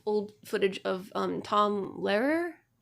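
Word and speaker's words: Lehrer: a lot of old footage of um Tom Larer. Larer. Yeah. L E H R E R. I can never pronounce it.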